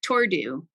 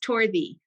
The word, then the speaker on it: Torddu: So you'd think Tordu, right? Tordu. Torddu. Tordu. She says it's pronounced Torthy.